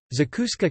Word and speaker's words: Zacuscă: Zacuscă, Romanian pronunciation, Zacusc, is a vegetable spread popular in Romania.